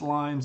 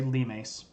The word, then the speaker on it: limes: the Romans call the lemas of Rome and I know it's spelled limes but it's not pronounced limes it's Latin you say lemas and these are the